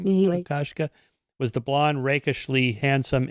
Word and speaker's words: Kokoschka: the artist Oscar Kokoschka, is that how you pronounce his name? Kokoschka.